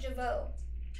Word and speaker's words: Jevaux: a fruit theme today my last name is pronounced javo it's pronounced Java or dinky King um